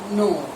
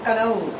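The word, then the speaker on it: know: वैसे नो, नो, ये नो आया, कोई बिहारी कनऊ, कनऊ, कनऊ, ओके ना, दिस नॉट कनऊ, नो, ये साइलेंट है, और ये भी नो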